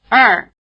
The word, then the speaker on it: 二: in syllables spelled ER, such as the number 2. Listen. 二二二 There's nothing hard about final R for most Americans. You can hear something very much like Chinese ER in the proverb, to err is human.